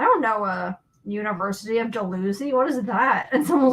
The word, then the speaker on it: Dalhousie: Nova Scotia called dilhousie Dalhousie Dalhousie they're spelled exactly the same but pronounced very differently and it really confused